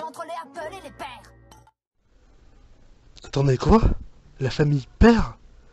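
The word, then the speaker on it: pear: la famille Pomme, et il prononce père, donc poire en anglais, à la française. Donc ce qui donne, comme je l'ai dit, père.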